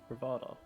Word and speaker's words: Truvada: is going to be Truvada. Charuda Ravada? No, it's Truvada. I said it wrong the first time round. Truvada. Yeah. Travada. Yep. It sounds like Travago.